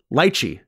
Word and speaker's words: lychee: She would yell back to him, lychee.